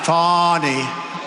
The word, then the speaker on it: Fani: even though it's spelled Fanny f a n i fny how about that one how about that one